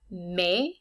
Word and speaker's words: mai: Mai sounds exactly like English May, it's very similar.